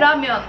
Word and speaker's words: 라면: Korece'de ramyeon diye telaffuz ediliyor.